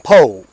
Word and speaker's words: Poore: I am Colonel Poore. That's spelled P-O-O-R-E. Sort of like that new sandwich making its way up here called the Po' Boy sandwich.